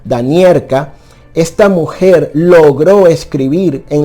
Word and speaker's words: Domeracka: años llamada halina domer en polaco domer se pronuncia danier esta mujer logró escribir